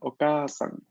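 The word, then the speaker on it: お母さん: Cuando hay palabras en japonés que en romaji usualmente se escriben con doble vocal, ¿no? Como por ejemplo la palabra okasan. Okasan. En este caso vamos a pronunciarla tal cual. No vamos a darle espacio debido a pronunciar la consonante larga, perdón, la vocal larga.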